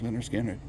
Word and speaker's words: Lynyrd Skynyrd: debut their debut album leonard skinner pronounced leonard skinner announced the group to